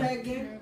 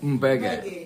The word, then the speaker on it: Mbege: Mbege. Mbege.